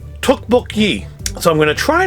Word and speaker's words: tteokbokki: is the best thing it's supposed to be pronounced tookbook so i'm going to try to say it